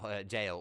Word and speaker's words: gaol: It's like Oh, jail. What's that? It's It's like gaol g a o l or something like that.